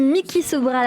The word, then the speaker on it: Micki Sobral: Et on est en train d'écouter sur l'antenne de Radio J Mickey Sobral avec son groupe qui s'appelle Behind Locked Doors. Si j'ai bien prononcé. Bonjour Mickey.